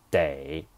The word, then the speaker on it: 得: Day, this word is a polyphone. In this sentence, day, this character appears twice. This is the first time. Pronounce it as day.